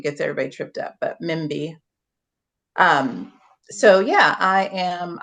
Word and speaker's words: Mbie: bit of your story Okay so so um Mimi is how it's pronounced but that's fine because it's sometimes Mandy